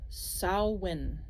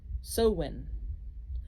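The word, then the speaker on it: Samhain: will just depends Sam Hayne again gelic word pronounced sawin sowin is a pagan religious Festival originating from an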